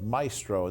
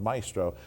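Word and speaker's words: Mystro: Now, Sons of Maestro, and this is spelled M-Y-S-T-R-O, Yes. Sons of Maestro.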